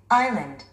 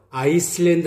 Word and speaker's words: island: Island. Island. Island. Island. Island. 섬이라는 의미를 갖고 있죠? 아이슬란드 하면 안 됩니다, 여러분들. 이때 S는 묵음입니다. Island.